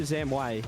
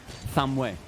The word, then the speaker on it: Thamwe: It's Thamwe. Thamwe. Oh. Like that. Okay. You have to give the emphasis on the mwe.